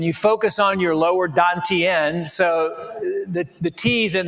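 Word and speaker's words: dantian: inner smile and you focus on your lower dantenne. So the the t's in the ancient dowoism are pronounced with a d and that's three three inches below the navl. So this would be your lower dantenne.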